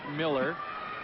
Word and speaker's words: Mueller: about Mueller Miller but Kent does prefer his name to be pronounced Miller spelled with the U and the e he said Miller's fine whatever that means and